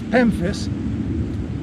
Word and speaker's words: Pemphis: without soil is pemphis this is pemphis rhymes with memphis but it starts with a pea and i want to